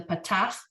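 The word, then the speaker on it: פתח: Then you have the Patach, just the little line. Sounds like Ah.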